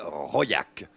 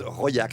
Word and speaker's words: Raulhac: du Cantal qui s'appelle Royac. Royac, ça se situe à 25 km à peu près d'Aurillac, vous voyez, dans ce qu'on appelle le Carladès. Ça s'écrit Rolac, mais ça se prononce Royac.